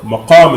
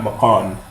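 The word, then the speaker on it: مقام: Maqam is what I said, not maqan.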